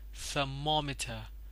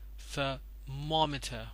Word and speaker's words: thermometer: means bracket any kind of bracket sir mamita thermometer thermometer a stress goes to this syllable and it is pronounced our equation equation